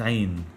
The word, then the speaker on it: ع: the following episodes so the letter on its own is pronounced ein and this is also